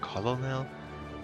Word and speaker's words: colonel: Colonel is pronounced Colonel. Where did you let the R follow? Why did the R fall off the word? Why can't you say colonel? Why colonel? I thought colonel would written like C-O-U-R-N-E-L or N-A-L, colonel.